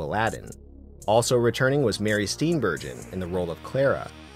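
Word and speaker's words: Steenburgen: Part 3 brought to my attention that it's pronounced Mar Steam bergon and that I should be ashamed of myself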